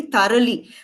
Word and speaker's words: thorough: And then in this word, everybody knows this word, we say you should read this lesson very thoroughly. So for thorough, it rhymes with burrow.